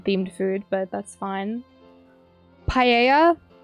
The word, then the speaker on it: paella: Paella. Not too sure about the pronunciation there, but I think double L is a yeah sound.